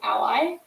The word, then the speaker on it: a11y: will misspell it um so a11y but short is ally um i'm going to